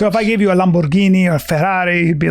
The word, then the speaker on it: Lamborghini: Yeah, it's pronounced Lamborghini, first of all.